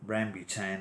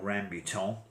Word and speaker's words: rambutan: And I was in London a couple of days ago in Chinatown and bought some rambutan or rambutan, depending on how you prefer to pronounce them, which are these very